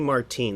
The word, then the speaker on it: Martine: You don't have to roll your R's. Just call me Martine.